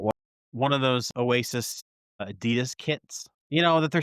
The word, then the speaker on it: Adidas: The brand's founder, Adolf Dler, Addi, intended it to be pronounced Adidas.